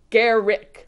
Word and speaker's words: Gericke: gonna say the e is silence and it's like garrick like you know all